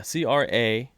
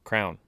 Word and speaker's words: crayon: it's cra or yeah c-r-a-y-o-n crayon crayon you say crayon yeah i've always like grown up i would just say crown yeah so did i but mom would literally be my ass about it she'd like no it's crayon no it's crayon so